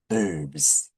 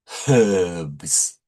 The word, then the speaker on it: herbs: Okay, today let's talk about some herbs. Well, often British people say herbs, but North Americans say herbs without H. That's, I guess, a French influence, I guess.